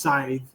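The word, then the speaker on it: seiðr: Typically, there's speech magic, which is gold or like chanting, and then there's, I believe it's pronounced scythe, and it's body magic, which is more Freya.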